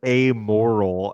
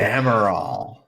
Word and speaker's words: Amaral: For a second, I thought he was saying amoral, and I just didn't have the heart to tell him that he wasn't pronouncing it correctly. Amaral. Well, I'm thinking Pomerol, but that's, it's not that. It's Amaral. Yep.